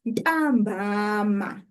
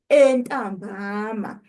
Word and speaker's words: ntambama: Please note that ntambama doesn't have a prefix. It's simply ntambama. We don't say entambama when we use it to say in the afternoon. We just say ntambama.